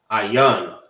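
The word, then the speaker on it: ayin: Ayan is how you say I in the Hebrew.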